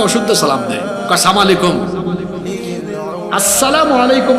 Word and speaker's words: আসসালামু আলাইকুম: আসসালামু আলাইকুম মানে আপনার উপর শান্তি বর্ষিত হোক, আর সালাম আলাইকুম মানে তুই মরি যা।